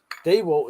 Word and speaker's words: DeWalt: Dewalt is literally the only word that has to be said Dewalt. I've looked it up multiple places. I said it was Dewalt. The internet said it was Dewalt and a bloody bloke